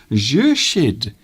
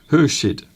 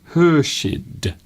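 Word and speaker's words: Khurshid: Jurshid is here as well. I know, Mr. Duncan, you are pronouncing my name wrong. Hurshid. Hurshid.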